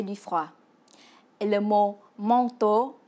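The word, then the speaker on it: măng tô: Et le mot manteau se dit en vietnamien manteau, qui se prononce presque pareil comme en français.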